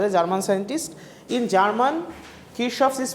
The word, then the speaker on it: Kirchhoff: In German, Kirchhoff is pronounced as Kirchhoff.